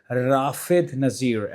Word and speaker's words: Rafid Nassir: His name is Rafid Nassir. Am I pronouncing it right?